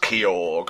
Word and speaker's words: Kyogre: you ask your boyfriend Kyogre it's pronounced kog thank you very much